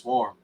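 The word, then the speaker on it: CWORM: My name is Swarm, but I spell it C-worm, even though it's pronounced Swarm.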